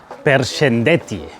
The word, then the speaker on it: përshëndetje: The first day, if you remember, I learned "përshëndetje", which is hello, a four-syllable word.